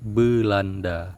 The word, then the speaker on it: Beulanda: Sedangkan dalam bahasa Aceh disebut Belanda. Hanya beda sedikit ya, dari be menjadi be. Be itu merupakan ejaan dalam bahasa Aceh yang biasa dipakai. Tulisannya BEU, BEU, tapi dibaca be dalam bahasa Aceh.